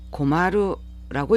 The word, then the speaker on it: 困る: 여기 입구자에 나무 목자가 이렇게 들어가 있는 이 한자를 일본인들은 고마루라고 읽습니다.